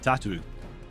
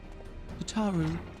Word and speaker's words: Tataru: Ah, Tatu. Curtsies. Here. Tataru, rather.